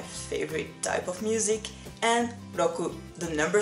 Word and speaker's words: Rockuu: You may have noticed that I pronounce it Rockuu the Japanese way and not Rockuu the American way, because it's a Japanese nickname.